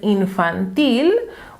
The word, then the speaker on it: infantil: to ask yourself, "Hmm, could it be "ínfantil", "infántil? "No. If you know the rules of syllable stress well, you will know that it is "infantil " because in Spanish, if a word ends with a consonant, with the exception of "n" and "s", and if there is no accent mark, we will always put the stress on the last syllable.